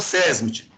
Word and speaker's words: SESMT: teve é pastor ainda falou desse jeito não falou sesmt seria a pronúncia correta passou despercebido isso aí